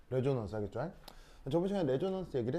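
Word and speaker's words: resonance: 시작 리소 그즈 s 여기서 발음 s가 모음 모음 사이에 있으면 이런 발음이 많이 난다고 reson넌스 알겠죠? 어, 정말 가은형 읽어 보세요. 시작 어 그렇지 이게 공명 알겠죠? 아, 재후 그죠? 재후 제 레조넌스 하겠죠?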